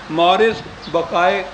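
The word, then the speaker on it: Maurice Bucaille: ہے۔ یہ ڈاکٹر ہے، یہ فرینچ نیم ہے، شاید اس کے تلفظ ایسا صحیح نہ ہو، مورس بقائے اس کو کہتے ہیں کہ یوں پڑھنا چاہیے، اگرچہ وہ MAURICE ہے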